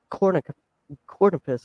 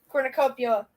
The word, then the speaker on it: cornucopia: You were just trying to buy a cornupus or whatever it's called. Cornucopia. Cornucopia. I'm awful at pronouncing names.